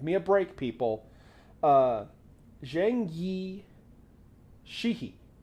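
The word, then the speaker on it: Zheng Yi Sao: a break people uh Zhang Yi Sheehy I think is how you pronounce it and she's uh she's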